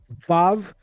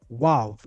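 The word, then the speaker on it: waw: as well as the introduction of the term vav for what we call in biblical Hebrew wav. That v sound is European. European Jews have a problem pronouncing the W.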